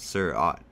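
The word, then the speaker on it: Seurat: thought my parents were calling our poster this sir ott which is how you pronounce zerat the name of the artist from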